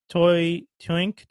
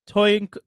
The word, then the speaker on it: Toynk: I guess it's supposed to be pronounced Toynk Toys.